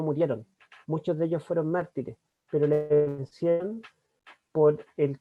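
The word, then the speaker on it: μάρτυς: La palabra testimonio en el idioma griego es martus o mártir, porque la Hipsilon suena mitad U, mitad I. A veces se traduce como U, como I, pero en griego se pronuncia mártir.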